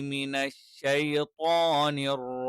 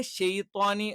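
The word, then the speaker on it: مِنَ الشَّيْطَانِ: പിന്നെ ഷെയ്ത്വാനി എന്നുള്ളത് തെറ്റാണ്. പകരം എന്ത് ചെയ്യണം? മിനശ്ശൈത്വാനി എന്ന് തന്നെ കറക്റ്റ് ആയിട്ട് പറയണം.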